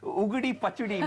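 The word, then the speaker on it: Ugadi Pachadi: And Shireen, I'm so happy that you got the pronunciation right. Ugudi Pachudi, we call it Pachudi in South India.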